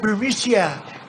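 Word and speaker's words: Burisma: this uh bureaucia bermucia they say pronounce it burmesia a real beautiful company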